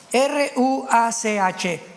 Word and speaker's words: ruach: Apunten todos ustedes los que les interesa en su Biblia la palabra espíritu, que es la palabra se escribe ruash. R u a c h.